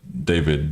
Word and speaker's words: D4VD: I'm going to say David. I believe it's David, D4VD, right?